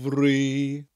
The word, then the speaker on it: fri: And you'll notice that the word fri, which is spelt F-R-I, sounds different to the F sound in English. An F in Welsh is always a V sound, and a double F is the more traditional F sound that we get in English.